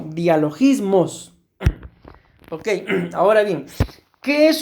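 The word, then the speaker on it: διαλογισμός: Y a esta palabra, mis amados hermanos, en griego se pronuncia más o menos así como dialogismos.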